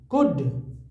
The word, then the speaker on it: could: ओ डब्ल्यू है ना last में, तो ओ उच्चारण हो गया, tomorrow, tomorrow they क्लाउड, क्लाउड क्लाउड, कुड, क्लाउड क्लाउड सी के बाद एल रहता तब होता क्लाउड, लेकिन वो है Could.